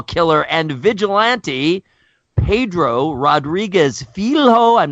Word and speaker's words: Filho: It's akin to Filho. Filho.